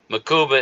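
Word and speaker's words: Mukuba: Makuba is the correct way to say it. So I was right. What did I say? So I was right. Mabuka.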